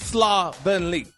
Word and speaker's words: slovenly: sloly slovenly it's pronounced slovenly you said slovenly it's a o s l o slowly it's a soft o not a hard o that's why the give